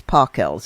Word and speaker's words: Pockels: Tell the wonderful story of Agnes Pockels, if I'm pronouncing her name correct.